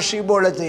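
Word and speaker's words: שיבולת: அப்போ இவங்க என்ன சொல்கிறாங்கன்னா, ஷிபோலத் அப்படின்னு சொல்லுங்கிறாங்க. ஷிபோலத் சொல்லு அப்படிங்கிறாங்க. அவனுக்கு ஷிபோலத்துன்னு சொல்ல வரலை. யாருக்கு? எப்ராஹிமருக்கு ஷிபோலத்துன்னு சொல்ல வரலை. அவன் சீப்போலத்துங்கிறான். சீப்போலத்துன்னு சொன்ன உடனே வெட்டி போட்டுருவாங்களாம்.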